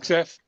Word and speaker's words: Hegseth: Pete, how do you pronounce his last? Hegseth. Hegseth?